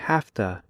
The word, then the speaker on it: have to: by using half - in slow speech Americans say have - but in fast speech Americans say hafta it looks like this